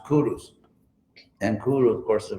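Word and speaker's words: Kuruš: person Empire ironically because his name in his own language was actually pronounced Kurus and kuru of course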